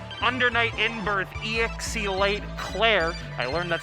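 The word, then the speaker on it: Cl-R: round season beatings undernight in birth exe light Claire I learned that's how you're supposed to pronounce it it's not clear it's not clear it's Claire uh we are here with our top eight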